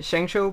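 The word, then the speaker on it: ShengShou: banks fans fans fans zhengzhou por ejemplo es en soul primero baja y después baja y sube zhengzhou esta es la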